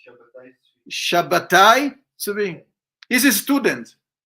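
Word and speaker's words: Shabbetai: of a Jewish scholar, Shabtai Tzvi. Is it good? Am I pronouncing it right? Yes, it's Shabbatai.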